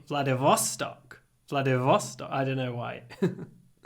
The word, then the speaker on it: Vladivostok: Not Vladimirstok. What? Our final destination is Vladivostok. Got it. Vladivostok. So we move the stress. We don't say Vladivostok. We say Vladivostok.